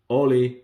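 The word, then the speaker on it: hola: like this one actually Ollie remember the H is silent in Spanish so Oli maybe you're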